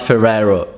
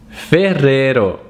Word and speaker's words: Ferrero: number two which is ferrero ferrero it's not ferraro it's ferrero ferrero ferrero ferrero and this is the brand under which you discover products like nutella nutella ferrero rocher ferrero rocher kinder then we have prada